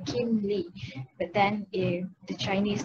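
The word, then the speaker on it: Kim Li: So as we can see, it is spelled as K-I-M-L-I, so Kim Lee.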